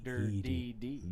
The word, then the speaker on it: Dirdeed: Dirdeed. Dirty. Yeah, no, you gotta, it's Dirdeed. D-I-R-D. You gotta kind of slur it. It's not a dirty. It's a dirty.